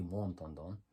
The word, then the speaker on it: Montandon: It is the Americanization of this, but it's interesting because the French pronunciation of the name would be Montandon.